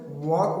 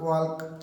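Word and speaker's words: walk: अब देखिए यहाँ पे एल साइलेंट रहता है, टॉक वॉक, और इससे मिलता जुलता एक वर्ड और है चौक, एल साइलेंट रहता है। ऐसे नहीं कि टाल्क वाल्क चाल्क ऐसे नहीं बोल रहे, ठीक है, एल साइलेंट होता है, टॉक वॉक एंड चौक।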